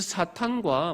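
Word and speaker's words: שטן: 한글 성경에는 사단이라고 기록되어 있지만 이것은 히브리어 사탄, 곧 마귀를 히브리어 발음 그대로 옮겨 놓은 겁니다. 그래서 사탄과 마귀는 같은 존재입니다.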